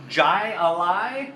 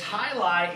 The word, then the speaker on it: Jai Alai: probably call that what jai alai something like that but obviously that would be like saying jalapeno right so the J is silent and it's High Lie India pale ale and